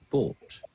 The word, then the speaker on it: bought: Bought. Boat. Boat. No. Boat. Boats. Bow. Don't pronounce the letter U. Don't pronounce it.